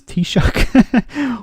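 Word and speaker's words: Taoiseach: Alex Shin Fain um if EU officials can pronounce t-shock why is it so hard for brexiteers on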